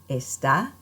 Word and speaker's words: está: Make sure that when you speak, you are putting the stress firmly on that last syllable, and that will help